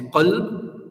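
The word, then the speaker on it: قلب: tajweed, is if you take the word kalb with a Kaf, which means dog. But the same letter, if you pronounce it with a Qaf and you say qalb, it means heart.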